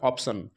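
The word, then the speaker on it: option: লাস্টে টি আই ও এন আছে বলে সন উচ্চারণ হচ্ছে তারপরে অপশন ও পি টি আই ও এন অপশন তারপরে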